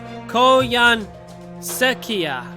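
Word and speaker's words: Koyanskaya: It's Koyan Sekia.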